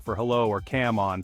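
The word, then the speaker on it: cảm ơn: sincha for hello or cam on pronounced gamon for thank you can work Wonders It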